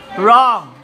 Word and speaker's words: wrong: silent letter B wrong number four is wrong silent love silent letter is w wrong Shar wrong wrong silent